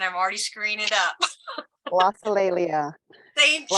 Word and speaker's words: glossolalia: I asked them how to pronounce this, and I'm already screwing it up. Glossolalia. Thank you. Glossolalia.